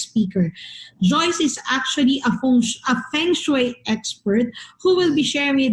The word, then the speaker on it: feng shui: introduction to feng shui actually uh the correct pronunciation is feng shui now um the feng